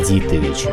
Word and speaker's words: Дитович: Оно произносится как Дитович.